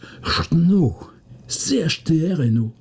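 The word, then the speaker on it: Château-Renault: je me souviens bien entre vandom et château Renau qui se prononce chtr no et là tout d'un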